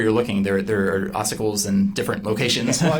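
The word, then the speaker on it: ossicles: It's oicles. Okay. What is that? So, it depends where you're looking. There there are oicles in different locations.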